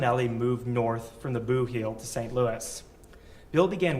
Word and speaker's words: Boot Heel: Chapman spent the 1960s in southeast Missouri, in a part of the state called the Boot Heel, or as locals say, the Boo Heel.